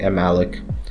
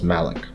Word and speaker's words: malloc: will start with the explanation of malloc or emilich you can pronounce it however you like some people say malloc some people say I'm Alec I prefer pronouncing it as malloc to use malloc you